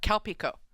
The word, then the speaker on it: Calpico: the brand and the drink is called uh calpico oh oh so it's actually so calpis is